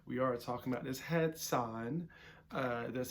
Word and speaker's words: Hatsan: That's not what caliber we're talking about today, but we are talking about this Hatsan.